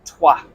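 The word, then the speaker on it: Troyes: high up I'm up near TW uh or as it's spelled Troys um I was hoping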